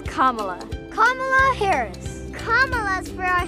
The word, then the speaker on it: Kamala: According to her own memoir in 2019, Kamala Harris says, it's like the punctuation mark, comma, Kamala, Kamala Harris.